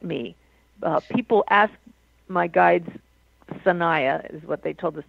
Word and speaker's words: Sanaya: Sanaya is S-A-N-A-Y-A.